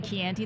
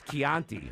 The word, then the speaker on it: chianti: movie the guy's a doctor it was the key auntie that you didn't like yeah like the way he said it he should be able to know how to pronounce chianti right yes like that's that's garbage anyway i